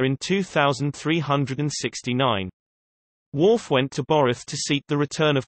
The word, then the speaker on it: Boreth: Boroth, the most sacred place of Klingons, pronounced Boroth, where Kallus was supposed to return.